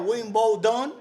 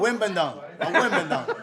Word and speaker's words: Wimbledon: You want to buy a win, bowl, done? There you go. Wimbledon.